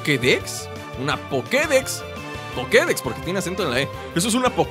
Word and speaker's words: Pokédex: eso es una o que de una pokédex pokédex porque tiene acento en la y eso es una pokédex así